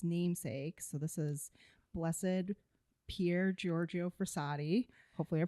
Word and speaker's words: Pier Giorgio Frassati: So, this is blessed Pierre Giorgio Frisadi. Hopefully, I pronounced that right.